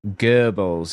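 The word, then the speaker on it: Goebbels: It sounded like it said goals. Yeah, that's a weird pronunciation, but it's still I don't think it's technically incorrect. Uh, it was probably trying to pronounce it with an English uh accent with a touch of German by not using the R sound. Gibbles is the technically correct version. Gibbles, I believe.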